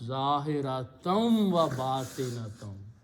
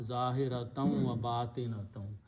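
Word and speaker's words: ظاهرة وباطنة: And in between there is a waw, and that means visible and invisible, but in the tajweed you pronounce zahiratam wa batinatam. Instead of noon, sound noon unna, zahiratam wa batinatam.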